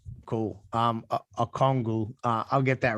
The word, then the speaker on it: Okongwu: Say his last name again. Okongwu. Is it am I saying it correctly? Okongwu, yeah. Cool. Okongwu.